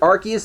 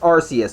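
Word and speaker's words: Arceus: I know they pronounce it Archus there. And to me, that sounds natural, but apparently it really is pronounced Arus. Even the games have confirmed this.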